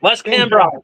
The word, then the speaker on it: Wes Cambron: Wes Cambron.